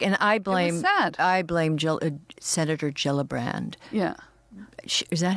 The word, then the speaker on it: Gillibrand: Senator Gillibrand. Yeah. Is that how you pronounce her name?